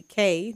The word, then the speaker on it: Kai: So I chose my middle name, which is actually K, but it's spelled K-A-I.